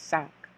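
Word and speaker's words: cinq: 5 is pretty easy because as you can see, the pronunciation is sank. Sank, like you sank a ship, sank.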